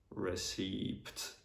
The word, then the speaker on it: receipt: So for example, in the word receipt, the P is silent. Indeed, when I went to UK, I went to a restaurant and I told the waiter receipt, and he was not able to understand me. And then like one friend of mine who was British, he told me that the P is silent in receipt, so you don't have to pronounce it.